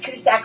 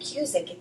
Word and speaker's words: Cusack: So it's Cusack like the actors Joan and John Cusack. That was my maiden name. You pronounce it Cusk in Ireland and it's a pretty popular name in Ireland.